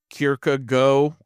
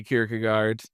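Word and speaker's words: Kierkegaard: scholar, he said in like actual Danish you'd pronounce it more like Kirk go or something like that, but we say Kirkagard.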